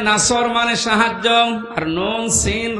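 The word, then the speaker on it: نصر: এখানে সোয়াদ আছে, নাসর মানে সাহায্য, আর নুন সিন র নাসর মানে ঈগল পাখি।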